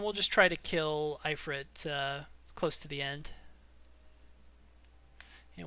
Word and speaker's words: Ifrit: Yeah, it's supposed to be an Ifrit, which is usually spelled like E-F-R-E-E-T. So, yeah, like, I think that's actually the correct way to pronounce his name, but Okay. apparently I say it wrong.